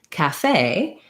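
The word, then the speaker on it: café: on the first syllable in caffe we have second syllable stress so my fey is the long clear vowel and it's my same vowel that's in cage but in here i spell it with an e it's got this little axant on it comes from the french and so in english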